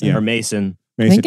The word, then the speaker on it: Masson: pronounce his name or Mason I think it's Mason two s's massive yeah so pronounced like the Orson Welles wine okay great uh like